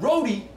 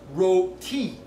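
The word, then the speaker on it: roti: And Rody is not pronounced Rody, it's pronounced Ro-ti.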